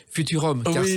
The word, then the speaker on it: FVTVRVM: Dancing par les Naive New Beaters, un album alors qui s'écrit FVTVRVM et qui s'appelle en réalité Futurum.